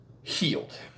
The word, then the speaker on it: Heald: the ax M said healed as if you were injured and it's now healed so it is John healed not held not healed not anything else John healed and he said uh